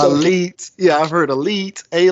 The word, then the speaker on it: Alite: you pronounce it it's growing up in the street it was a light but it's really pronounced elita and no one everybody